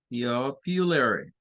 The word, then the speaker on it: popular: It is the most popular. Popular. Acuérdense que con esta palabra hay que tener cuidado en la pronunciación.